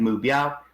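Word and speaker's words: 目标: So that gives me my 3 syllables, mu, bi, ow. Put them together, you get mu, biao, which is the word I want to remember, which is target.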